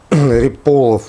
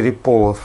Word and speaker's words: Ряполов: Вот Риполов, мне кажется, на второй слог. А.Г. Риполов, да, вот так и буду говорить. Вот. И вот А.Г. Риполов просит администрацию бара уточнить,